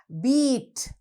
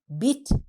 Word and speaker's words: beat: ඊළඟ වචනේ beat. Beat. Bit නෙවෙයි beat. Is it a long or a short E? It is a long E.